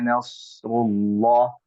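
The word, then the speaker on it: نصر الله: Bacanya tafkhim, maka harus tebal. Idza jaa nasrullah, rullah gitu ya. Bukan rullah tapi rullah seperti itu ya.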